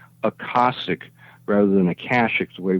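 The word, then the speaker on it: Akashic: So you're talking about the Aashic records. Well, yes, in a sense. Uh Joe always told me to pronounce it differently.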